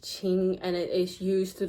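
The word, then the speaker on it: 青: It's all pronounced ching but the meaning is different. The red card is pronounced ching and it is used to describe this somewhat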